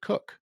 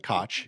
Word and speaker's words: Koch: How did we pronounce it? We pronounced it Cook. It wasn't Koch. It wasn't Coke. It was Cook. In Wisconsin, it was Cook, and it was spelled exactly that way.